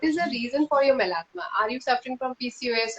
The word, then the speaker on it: melasma: Yeah, melasma. Melasma. Yeah. So melasma is a hormonal condition. Oh. You will have to find out what is the reason for your melasma.